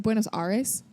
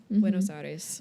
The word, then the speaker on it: Buenos Aires: Buenos Aires? Buenos Aires.